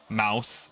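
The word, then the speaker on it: Maus: There was a book, a graphic novel that causing some controversy called, I believe it's pronounced Mouse, but M-A-U-S.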